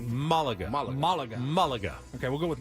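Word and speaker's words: Málaga: Well, the accent is on the first A, so it would probably be Malaga.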